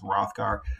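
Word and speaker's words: Hrothgar: King of the Danes that AG is silent so his name sort of comes off as rothgar uh he is very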